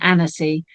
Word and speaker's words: Annecy: I just thought, I thought I should have checked how that's pronounced. It is Annecy.